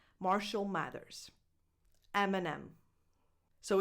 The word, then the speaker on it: Eminem: Number 10, Eminem. Like the candy, but without the S at the end? Yes, exactly. Eminem.